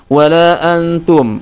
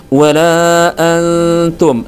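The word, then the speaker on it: وَلَا أَنتُمْ: dengan ta wala Antum harusnya ya harusnya dibaca samar dan dipanjangkan atau ditahan tapi di sini hanifatos membacanya dengan Los teman-teman jadi lolos dari hukum tajwidnya wala Antum langsung dibaca seperti itu ya harusnya wala Antum Nun sukunnya atau tanwinnya dibaca dengan samar tidak jelas artinya teman-teman tidak seperti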